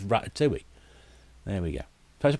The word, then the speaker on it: Ratatouille: and watch that instead it even tells you how to pronounce it tops is rat at 2E there we go people going with ratatoul no if you ever watch faulty Tales you know it's rat do we there we go there's